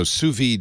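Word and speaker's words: sous vide: a number of companies doing these uh so suid is spelled s o u s v i D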